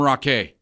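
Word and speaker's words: Raquet: the year calling him Rock a okay it's spelled r-a-q-u-e-t I go that's gotta be right okay that would seem right like Chevrolet yeah so I'm going rock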